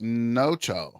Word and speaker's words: Nocha: in there so what's up with Jaylen it's pronounced noo noo so Nacho and noo cool noo finally